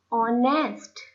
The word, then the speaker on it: honest: You can see on the screen the word is written all, honest, honor. For though the first letter of each is the consonant H, but here H is silent.